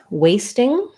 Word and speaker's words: wasting: So we have this letter A says the A diphthong, first syllable stress, wasting, and then we do say a T for ST blends, but we don't have a lot of air coming out, so you might think